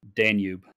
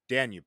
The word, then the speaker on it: Danube: And rule two is going to be if Derek mentions Danube, is that how pronounced? Danube. Danube, sorry.